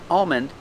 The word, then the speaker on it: almond: never touches the roof so you don't hear an L you hear um almond and calm and palm like this palm tree